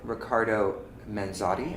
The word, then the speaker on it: Riccardo Manzotti: So we're here with Riccardo Manzotti. Am I pronouncing that correctly?